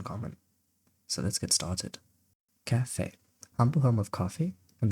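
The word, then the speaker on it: café: And yes, I'm talking about the cafe. But that's not quite right, is it? A yes, it's missing its special little guy on the top that stops the word from rhyming with safe.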